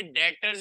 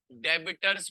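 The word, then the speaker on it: debtors: account receivable के आगे डॉटर्स भी लिख लेना बी साइलेंट होता है बहुत बड़ा लगता है बेटा कंपनी ये जो है स्टूडेंट जाते हैं डेबिटर्स पढ़ने हैं इट्स वेरी लॉन्ग और पंप वगैरा में जाते हैं बड़ा लगता है डायरेक्टर बी इस साइलेंट दादा जींस पैसे लेना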